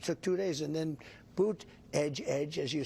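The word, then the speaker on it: Buttigieg: told Donald Trump hey if you can't pronounce his name just think of saying boot Edge Edge really fast Donald Trump probably heard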